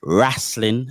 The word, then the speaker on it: Rasslin: It is Rasslin as in R-A-S-S-L-I-N.